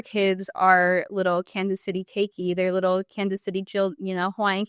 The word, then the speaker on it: Keiki: So it's actually pronounced Kansas City Keiki.